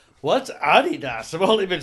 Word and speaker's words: Adidas: It's pronounced Adidas with emphasis on the first syllable.